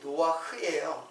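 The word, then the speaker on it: נח: 여러분, 노아라는 말이 노아흐거든요. 이 발음이 노아흐예요. 그러니까 우리는 그냥 노아라고 했는데 히브리 말로는 노아흐예요.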